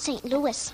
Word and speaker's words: St. Louis: Excuse me, Mr. Costello, but it's pronounced St. Louis.